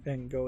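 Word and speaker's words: Van Gogh: apparently scalpers swarmed the van go Museum that's how I believe van go is supposed to be pronounced uh for a Pikachu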